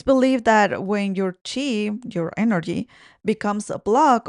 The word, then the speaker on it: qi: The same ones used in acupuncture to move what's called qi. It's also spelled like QI, which translates to life force energy. It's believed that when your chi, your energy, becomes a block or stagnant, it